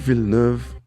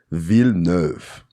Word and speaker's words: Villeneuve: Denis Villeneuve, yes, that's how you pronounce his name, Villeneuve.